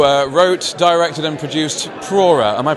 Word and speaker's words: Prora: tall Stefan who uh wrote, directed, and produced Pora. Am I pronouncing that properly? Yeah, that's right. In German, we would say Pora with a rolling error.